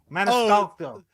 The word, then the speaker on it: Maniscalco: Maniscalco. Gotcha. I'm fucking it up. Your mispronunciation was so bad that mine has permanently been altered.